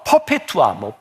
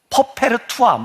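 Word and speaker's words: Perpetua: AD 200년경 유명한 그 초대교회 문서에 보면 퍼페투아, 퍼페르투아 이렇게 발음을 하기도 하고 퍼페투아라고 하는 한 여자의 순교에 대한 이야기가 나와요.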